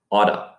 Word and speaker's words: ought to: when we use it we often pronounce ought to as auto auto notice that in